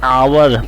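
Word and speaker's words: hour: this is एन आवर अब यहां पे आवर पढ़ेंगे इसको क्योंकि एच जो है एच जो है साइलेंट होता है और ओ की आवाज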